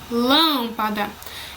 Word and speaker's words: lâmpada: Quando a sílaba tônica, que é a sílaba mais forte de uma palavra, é a antepenúltima, ela é acentuada e chamada de proparoxítona. Exemplo, médico, lâmpada.